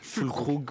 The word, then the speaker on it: Füllkrug: Comment ça se prononce Füllkrug. Füllkrug, Voilà. Füllkrug, je crois en allemand.